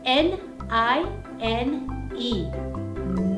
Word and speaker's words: nine: right o and e and that it was silent e very quiet no sound so that's the same as nine we're gonna put the silent e that's like a one